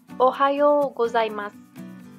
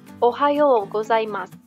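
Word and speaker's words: おはようございます: gozaimasu artinya selamat pagi ingat ya kalau kalian nemu huruf oishii tanda seperti ini dibaca agak panjang pengucapannya kemudian huruf pun disini saya isi tanda pengucapannya itu agak kecil bisa sampai tidak terdengar Ohayo gozaimasu Oke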